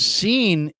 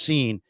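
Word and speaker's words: Cine: And Seen and that's how it's pronounced, Seen.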